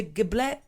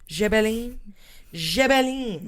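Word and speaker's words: Gébelin: In 1781, a French author named Court de Giblet. Perfect. You sound just like me in every single episode. Gibelin. Oh my God. That's how you say it.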